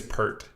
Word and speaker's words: Pert: And I think the nickname is Pert. Like, Pert. yeah. Cute. Yeah. Rhymes with Kurt.